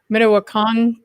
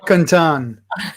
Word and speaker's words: Mdewakanton: So the original territory of the Mdewakanton. No, I didn't pronounce that right. Mdewakanton.